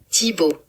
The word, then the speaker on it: Thibaud: So, what I've done is I've actually asked Google to help me pronounce T H I B A U D. So, I don't slaughter it. Tibo.